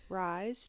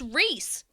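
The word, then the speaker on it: Rhys: It's Reese. Reese. God damn it. It's not Rise.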